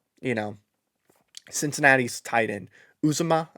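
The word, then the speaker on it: Uzomah: know cincinnati's tied in uzuma i believe that's how you say his name if one of those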